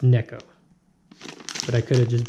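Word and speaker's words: Neko: told me I didn't it needs to be pronounced it's not Nico its neck oh but I could have just butchered that to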